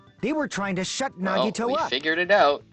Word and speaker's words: Nagito: Nagito.